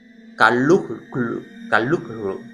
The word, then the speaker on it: Cthulhu: Y más o menos, yo lo pondré, se supone que es Kalukru o algo así.